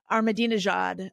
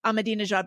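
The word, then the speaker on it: Ahmadinejad: said that uh she she remembered how to pronounce uh armad Jad armad Jad by thinking of I'm a dinner jacket whatever you very helpful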